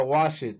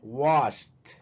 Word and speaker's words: washed: Entonces no sería wash it, sería washed. Washed.